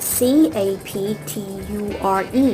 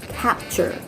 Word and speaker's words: capture: ออก capt นะ คะ ออก เป็น CH นะ คะ ออก เสียง คล้าย ๆ ออก เสียง ช ฉาก สั้น ๆ นะ คะ Capture Capture